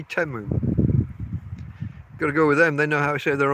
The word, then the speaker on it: Temu: say teu don't they if I was reading that word I would say teu just from the letters they say temu got to go with